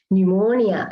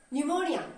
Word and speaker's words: pneumonia: are not pronouncing him there is a silent p in the spelling but we are not actually pronouncing him there are many words